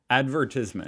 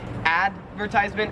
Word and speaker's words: advertisement: is advertisement advertisement and the difference is like which syllable you stress so in american english we would say advertisement advertisement and in australian english you say advertisement advertise it's like there's more emphasis on the verb advertisement part when we shorten that